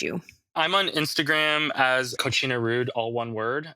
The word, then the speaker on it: Kochina: I'm on Instagram as Kochina Rude, all one word. It's spelled Kochina, like the Spanish word cochina, but with a K instead of a C.